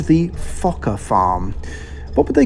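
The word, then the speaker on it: Fokker: parking was called the okay careful with the pronunciation here it was called the fokka farm what would they call it now the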